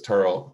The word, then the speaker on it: Terrell: of married church turtle and we'll note the pronunciation as we've learned from the descendants as terrell and not terrell as as many of us have come to